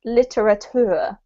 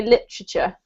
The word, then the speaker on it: literature: and he pronounced this literature. And when I was speaking, the thing about when we have a British accent is that we actually squash this word up. So I actually say literature, which doesn't sound anything